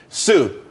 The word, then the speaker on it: TsU: everyone could be happy Sue TSU it's pronounced Su though that's a that's a website.